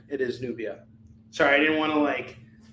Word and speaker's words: Nubia: It is Nubia.